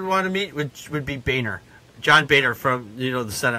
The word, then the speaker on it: Boehner: For me, the least person I would want to meet would be Boehner. John Boehner from the Senate. I would not want to meet him because his name is pronounced Boner.